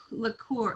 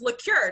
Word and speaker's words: Lecuyer: want to say look look cool look cooler am i butchering that you know what it's very close it's liqueur just like the alcohol like an alcoholic drink like like an after